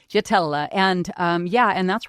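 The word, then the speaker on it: Jaitela: But the JT, the JT is the combining element because Gatella is spelled with a J. J A I T E L A. So JT Jatella.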